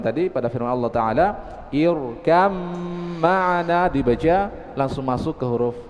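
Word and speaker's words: اركب معنا: إذا لا ننطق الباء. اركم كم معنا.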